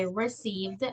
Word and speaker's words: received: Y el ed es con d.